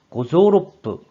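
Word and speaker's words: 五臓六腑: 고조로프, 오장육부라는 어휘가 되는데 이와 같이 오장육부는 발음이 뿌로 발음된다는 점도 함께 메모해 주세요.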